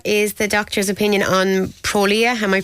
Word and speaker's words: Prolia: A person says, what is the doctor's opinion on Prolia? Am I pronouncing that right?